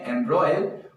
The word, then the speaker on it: embroil: इसका प्रोनाउंसिएशन है एम्ब्रॉयल और ये एक क्रिया है, इट इज अ वर्ब।